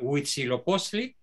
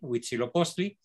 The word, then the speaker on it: Huitzilopochtli: profundamente real wichi lobos osea huitzilopochtli era el nombre original huitzilopochtli los españoles por pronunciación difícil los cinco parón como weeks y lobos pero es el mismo